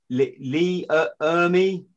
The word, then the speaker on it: Ermey: Lee Ermey, did I say his name right?